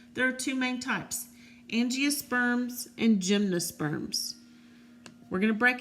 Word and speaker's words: angiosperms: to remember this so it's pronounced angiosperms ng is a girl's name so ng loves flowers there you go there's